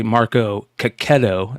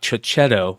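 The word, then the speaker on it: Marco Checchetto: recently uh told me how to say Marco ketto not chetto so I do say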